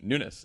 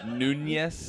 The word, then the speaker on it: Nunes: today can the hearing Nunes I said it try it again Nunes nun n I know there's no na there's no called and